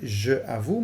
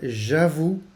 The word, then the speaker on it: j'avoue: Je zegt dus niet je avoue, maar j'avoue.